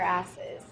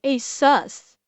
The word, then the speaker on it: ASUS: Okay, who in the fuck pronounces ASUS asses? Like, even when I first saw ASUS, I still pronounced ASUS. I just put a lighter on the U.